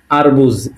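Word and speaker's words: арбуз: এ হলো রাশিয়ানে আ, এর উচ্চারণটা কি? আ। আ থেকে আবার একটা শব্দ বের করেছে, সেটা কি? আরবুজ, এ আ এর, আর বে উ বু আর জি, তাহলে কি হলো?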